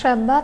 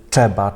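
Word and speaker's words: trzeba: Поляки часто читають, як, наприклад, «тши», то читають як «чи». Чи, наприклад, читають не «чеба», «часк». Пам'ятайте, щоб там виразно вимовляти, чітко вимовляти «треба», «часк», «стріл», «тши», «патши», «древо», «джві», «Анджей», «джемка». Бо деякі вимовляють «чеба», «часк», «щав», «чи», «патши», «джево», «джві», «Анджей», «джемка». Ну, це неправильно.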